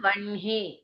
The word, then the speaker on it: வஹ்னி: இல்ல, ஹ ந வந்ததுன்னா அது ப்ரொனவுன்ஸ் பண்ணும்போது இன்னு ஹ தான் சொல்லுவோம் நம்ம. இப்போ பிரஹ்மான்னு இருந்ததுன்னா பிரம்ஹா அப்படின்னு தானே சொல்றோம். அந்த மாதிரி வஹ்னி, வஹ்னினா என்ன, ஃபயரு, அது சொல்லும் போது வன்ஹி.